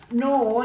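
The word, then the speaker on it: gnaw: Nor, you've got a silent G there before the N. Could be a K, could be a G, but we know nor we're going to use G for that silent letter.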